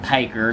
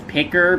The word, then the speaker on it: Piker: I suppose it's pronounced Piker because it's spelled P-I-K-E-R. I suppose P-I-K-E would just spell Pike, so I guess it would be Piker. I did used to pronounce it as Picker, but I suppose spelled like this, it is Piker.